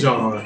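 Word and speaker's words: Jean: I think it is John. Is it Botham? It's either. Yeah, it's just spelled that way. Okay. Yeah, it's spelled like Gene, but I think it is John. It's actually pronounced John.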